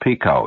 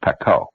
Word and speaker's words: Pekoe: It's not pronounced Pico, you know, it's Pekoe.